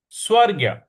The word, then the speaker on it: स्वर्ग्य: जुष्टमस्व ठीक है जुष्टमस स्व के बाद जो ग है उस पर थोड़ा सा हमें आघात देना है स्वर्ग्य स्वर्ग्य इस प्रकार से